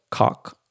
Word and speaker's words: Koch: I told you guys in the last episode that H&K, Heckler and Koch, actually it's pronounced cock, right? Like a German cock.